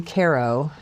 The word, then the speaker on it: Cairo: I have friends who moved to Cairo in 2020. Oh, you pronounced it correctly.